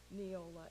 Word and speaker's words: Neola: Well, thank you for the pronunciation. You did very well. Neola, N-E-O-L-A.